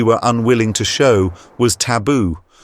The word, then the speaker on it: taboo: unwilling to show was taboo or as they pronounced the word tafu the Maya Rya or